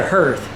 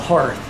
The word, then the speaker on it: hearth: That right there, I kept calling it a hearth. It's a hearth, and now I know how to say it, so thank you so much for correcting me.